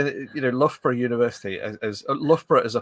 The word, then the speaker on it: Loughborough: say that you know loughborough university as loud as a place has the ough syllable in it twice pronounced two different ways it's like the worst